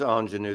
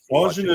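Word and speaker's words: Ingénue: That is ingenue. That's the record that this morning Mike couldn't pronounce the name. So yeah. Mike, ingenue is difficult to pronounce. Ingenue, which French, but it's an excellent Katie Lang record.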